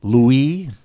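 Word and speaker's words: Louis: looking and he had a funny French name Louie as they pronounced it in France ello you is how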